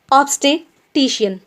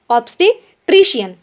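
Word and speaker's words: obstetrician: ठीक है, चलिए नेक्स्ट वर्ड है हमारा ऑब्स्टेटिशियन। ऑब्स्टेट्रिशियन जी, प्रोनाउंसिएशन देख लीजिएगा आप।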